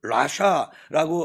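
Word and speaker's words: רָשָׁע: 여기에서 아기는 원어를 라샤라고 하는 발음인데 어 사악한 범죄한 불경건한 사람 이런 뜻을 가지고 있어요.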